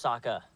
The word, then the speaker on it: Sokka: My name's Sokka. Rhymes with Akka and Waka Waka.